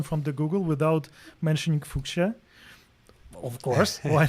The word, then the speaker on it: Fuchsia: to spell it yes we pronounce it fuchsia like the color yeah yeah so for